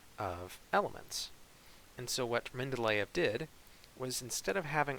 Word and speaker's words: Mendeleev: There was a Russian scientist named Dmitry Mendeleev, I believe is how you pronounce his last name.